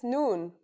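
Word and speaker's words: نون: That's noon. The noon is pronounced just like the English N.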